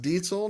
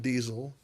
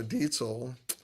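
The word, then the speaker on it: Diezel: VH4, and it's pronounced diesel, not diesel. Uh the Z sound in German is a ts. Um so, diesel.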